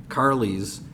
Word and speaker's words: Karlys: I am going to change the name to Carly's, which is spelled Karlys, a mix of my mom's name and mine, a little Karen and a little Kelly.